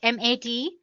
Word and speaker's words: MATE: Let me pronounce it M-A-T-E. You can call it whatever you want, Mate or Mate desktop environment.